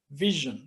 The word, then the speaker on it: VSHN: so first of all how do you pronounce the name Vision like just like the word Vision so it's very simple